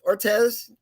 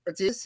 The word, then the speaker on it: Ortiz: very special guest and i hope i pronounced your first name correctly it is uh uh unique ortez ortiz is that correct munich ortiz yes my wife is